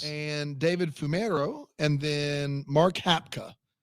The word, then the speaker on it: Mark Hapka: Oh, I think that's wrong. That's Hap Hapka. It's got to be Mark Hapka. Mark Hapka.